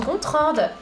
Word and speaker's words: Gontran: c'est ça OK bonjour je m'appelle Gontran mais ça se prononce gontrande ce temple de faire